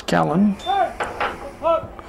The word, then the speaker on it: Callan: night after the game, wanted to make sure we knew how to pronounce Callan. But it's just like Calvin, but no V in there.